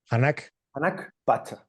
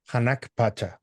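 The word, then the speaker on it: Hanan Pacha: do you pronounce it? Hanak Pacha. Hanak Pacha.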